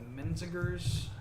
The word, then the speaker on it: Menzingers: This punk band called the Menzingers that's even how you pronounce it. It's like Menzingrs.